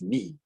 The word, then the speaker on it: knee: And the word is knee, part of your leg. So K in this case is going to be the silent letter.